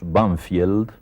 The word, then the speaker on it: Banfield: Sí, en uno de los suburbios de Buenos Aires, que nosotros pronunciamos Banfield, pero que tiene un nombre inglés, Banfield, y ese nombre inglés